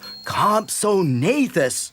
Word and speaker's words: Compsognathus: Ah, you have come to the late Jurassic period in search of the great and powerful Compsognathus. That's Compsognathus. It's very easy if you practice.